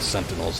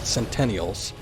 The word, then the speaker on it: Sentinels: the part with the Sentinels. I think he was reading them from the first part, but he kept pronouncing it Centennials, and I'm like, no, that is something completely different.